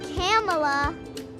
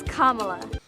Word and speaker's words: Kamala: It's not Kamala. It's not Kamala. It's not Kamala. It's Kamala.